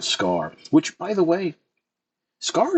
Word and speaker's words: Scarr: I especially like the look of Scarr, which, by the way, Scarr is fair. Like the way the name is spelled, it's just Scarr.